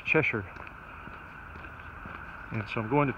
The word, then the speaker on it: Cheshire: they're going to in the South we say chest Shire but here it's pronounced Cheshire and so I'm going to chew ten miles